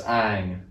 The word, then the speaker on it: Aang: you'll know the characters names and how they're pronounced i mean you'd know that from watching the first episode really yeah it's aang it's soccer levi oh sorry not livio but